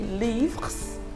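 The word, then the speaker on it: livres: and it should be leaves okay for the plural in french the s of the plural is silent okay so whether it's singular or plural the pronunciation remains the same okay but in writing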